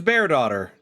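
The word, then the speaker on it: Bairdotr: already, her name is bearaughter. Like bear as in the animal, even though it's not spelled that way, and daughter is, you know, daughter, daughter of a bear.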